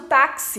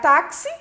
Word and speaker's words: táxi: trás para frente então aqui no caso do táxi né se eu separar táxi eu tenho táxi o tá é a segunda sílaba de trás para frente a penúltima sílaba e ela é tônica como ela termina em ir ela leva o acento vamos pegar aqui a